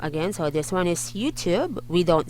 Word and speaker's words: YouTube: the sound of this when you pop the t for this word is youtube youtube the sound for this